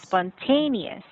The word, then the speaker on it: spontaneous: it yeah yeah yeah oh and there it is spontaneous it has a long a sound yeah okay yeah spontaneous